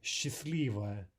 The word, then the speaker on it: счастливо: S plus ch is normally pronounced like sh, as in счастье, счастье, or счастливо, Счастлива.